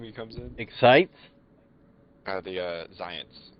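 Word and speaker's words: Xyience: buys 5 cases of Excience anytime he comes in? Excites? The Zions. It's like XY. It's like science, but spelled with an X and a Y.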